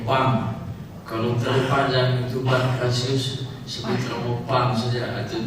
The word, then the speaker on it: Pancratius: Nama saya itu Pancratius. Jadi Pancratius, jadi ada yang Pancreas lagi yang lain. Jadi nama aslinya itu Pancratius.